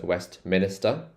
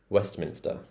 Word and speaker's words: Westminster: this one's interesting because a lot of people mispronounce this as West Minister Minister it's not Minister it's Minster Westminster Westminster embankment embankment Temple